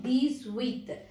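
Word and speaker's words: dix-huit: Which letter will you drop in this? H letter you should not pronounce any time in French, okay? So, these with.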